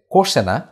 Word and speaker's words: questionnaire: 74 বলা হচ্ছে identify the correct spelling, এর উচ্চারণ হচ্ছে কোশেনা, এর বানানটা হচ্ছে QUESTIONNAIRE, কোশেনা।